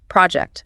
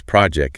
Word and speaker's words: project: If you say we need to finish this project, instead of project with a sharp percussive t at the end, it sounds sloppy.